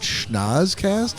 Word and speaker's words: Schnozzcast: and he's like, "Oh, how do you pronounce that? Is that Schnozzcast?" I'm like, "Well done. That is exactly what it is."